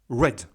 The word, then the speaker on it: red: Donc, toujours pareil, on va prononcer de manière bref. Red.